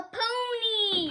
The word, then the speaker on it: pony: Y can say E if it's a long word. Let's see how many syllables are in pony. Ready? Pony. 2. All right, so it's a long word. That means Y says E.